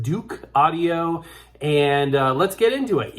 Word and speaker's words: Douk Audio: It's from a company which I believe is pronounced Douk Audio.